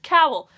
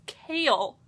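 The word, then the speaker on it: Chaol: life, and that is Cowell. Good old Cowell from Throne of Glass. Fun fact, I just learned how to pronounce his name correctly, actually. It's Kale, like kale, like the food.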